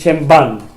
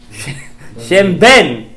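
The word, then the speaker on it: שם ב״ן: Williamsburg and Israel, and people are going to say Shem Ban. What is Ban? Shem Ben. You don't say Shem Ban. What is this? Shem Ben. Okay? That's how you say it.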